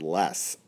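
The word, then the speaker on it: loess: It's called the Yellow River because of a type of dirt that's around the banks of the river called less. Let me spell it for you.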